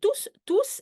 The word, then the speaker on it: tous: Donc, tous, we all, hein, on s'est tous, remember, I pronounce the S because it's all the people.